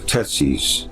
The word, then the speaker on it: Tethys: Tethys corresponds to the forms of Tetsis, and Tetsis or Tetsis conform to its ancient pronunciation. In the Old Greek language, the letter TH had a sibilant sound, and S was added to T, and sometimes TH represented Z.